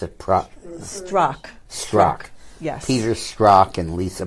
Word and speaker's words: Strzok: You know, these two star-crossed lovers, Peter, how do you pronounce it? Strzok.